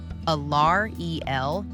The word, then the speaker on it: Alarielle: tree spirits created by Allarel, the goddess of life in nature. Allar Eel. Man, why do all these elves have such hard to pronounce names? Sorry guys, Lock said I was pronouncing it wrong.